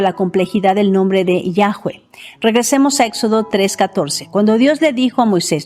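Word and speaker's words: Yahweh: Sobre la pronunciación del nombre del creador voy a argumentar que es Yahweeh. Algunos comentaristas dirán que no hay sonido w o u en hebreo y que se pronuncia yahvé, pero argumentaré que el hebreo moderno pronuncia la letra va como v, labio dental, pero en la antigüedad se pronunciaba como u.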